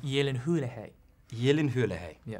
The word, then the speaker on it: Gyllenhaal: once and for all is it pronounced Gyllenhaal yeah or Gyllenhaal it's pronounced Yi Lin hoola hey yelling hoola hey